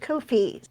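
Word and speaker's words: Ko-fi: which is that's right Kofi rhyming with no fee I've only had to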